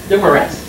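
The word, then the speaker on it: Dumaresq: Dumores.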